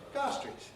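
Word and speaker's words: Gower Street: able to deconstruct it where is university college in gar street well gar street you have to be able to reconstruct gower ah street but we call it gar street which faculty are you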